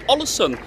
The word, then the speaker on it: Ålesund: So it's Ålesund, as what the locals pronounce it.